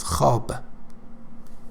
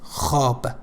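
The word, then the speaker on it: خواب: again actually here valve is between and alif hob hob means sleep sleep ho har ho her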